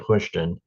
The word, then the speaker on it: Houston: thank you Brian uh I live in what I call Houston Georgia they pronounced at hushon uh I grew up